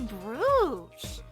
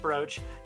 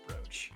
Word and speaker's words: brooch: it's a PO tart wait it's pronounced brooch you're not going to have you're not going to say can I have it please are you oh yes I am sorry it is pronounced brooch it does not make sense doesn't that make sense